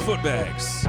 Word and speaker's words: Footbags: My name is Footbags, pronounced with the book bags.